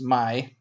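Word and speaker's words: ໃໝ່: spelling for in La that means new uh is pronounced my um and that is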